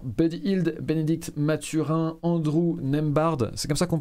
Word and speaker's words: Nembhard: Au poste d'arrière, Buddy Hield, Bénédicte Mathurin, Andrew Nembhard. C'est comme ça qu'on prononce, Cam?